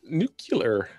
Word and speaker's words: nuclear: she is going to nuclear. it's pronounced nuclear. How is it supposed to be pronounced, actually? Nuclear. Nuclear. Yeah. Yeah. There's only one U.